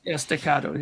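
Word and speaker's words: staccato: Stacado. Do you say it like that? Sort of a firehouse thing. Yeah. Stacato.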